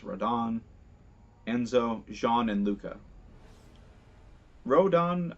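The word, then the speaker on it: Rodin: characters like Rodon who's spelled like rodent but is pronounced Rodon Enzo Shawn and Lucca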